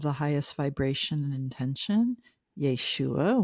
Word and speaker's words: Yeshua: Yeshua, which is the Aramaic pronunciation of Jesus.